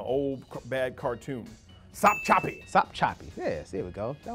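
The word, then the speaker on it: Sopchoppy: sound from the old bad cartoon some choppy stop choppy yes there we go that was easy one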